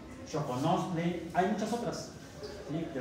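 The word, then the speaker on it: xoconostle: Se pronuncia como CH, pero se escribe con X. Choconosle.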